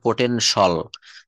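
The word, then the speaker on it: potential: কোন শব্দের শেষে যদি টি আই এল অথবা সি আই এল থাকে তাহলে সেখানে উচ্চারণটা হবে সল উচ্চারণটা হবে তালব্যস ল সল যেমন পটেনশিয়াল এটা কিন্তু বলতে হবে পটেনশল পটেনশল মানে হচ্ছে সম্ভাব্য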